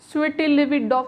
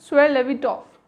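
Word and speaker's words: Svietlovidoff: Guys, इसमें ये T silent है, स्वेटिलेविडॉफ ऐसा कुछ नहीं कहेंगे, दैट इज स्वेलेविडॉफ।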